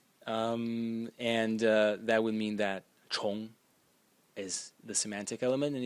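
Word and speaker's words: 虫: semantic element is only this part, which is pronounced chong, and is an insect.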